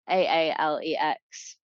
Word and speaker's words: Aalex: So, but it's Aalex, rather than, because whenever I say that to people, they're like, Alex spelled with two A's.